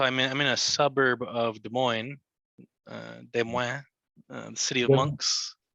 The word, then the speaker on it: Des Moines: in a suburb of Des Moines, Des Moines, the city of Des monks. Des Moines, Des Moines, Des Well, Moines. it's we pronounce it Des Moines, but Des Des Moines, Moines, Des Des Moines, Moines, Des of Moines.